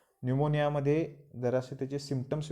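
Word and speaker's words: pneumonia: को switch off vice town fiction 10th अगस्त निमोनिया निमोनिया दरअसल Amazing जरा शोष भुन गया पहला प्याज साइलेंट है inflammation of Lanka ranges from mild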